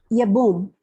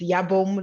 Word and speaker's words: Yabom: It's Yabom. Thank you. I usually say that at the beginning and forgot today. It's Yabom, like home. Yabom. Yabom. Yes, the E is silent.